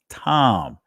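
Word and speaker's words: תם: The ancient Hebrew word is tham, right? But notice what we see here in the Israeli language is pronounced tom, perfect, plain, undefiled, upright.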